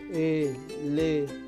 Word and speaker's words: elefante: Elefante. ¿No? Tenemos 3 sílabas átonas y tenemos una sílaba tónica que viene a ser fan. Por lo tanto, el acento está en la sílaba fan. Por lo tanto, la sílaba tónica es fan.